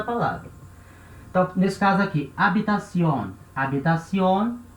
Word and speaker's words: habitación: Só que esse H, ele é um H voyelle, é um H muet, H mudo, certo? Então ele tem um comportamento de vogal.